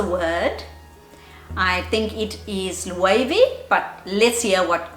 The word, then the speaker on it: Loewe: how do you go about pronouncing this name it's not logo but rather level that's what it sounds like to me but look i'm